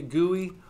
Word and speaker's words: GUI: when I say a GUI pronounced like gooey butter cake spelled g-u-i uh graphical user interface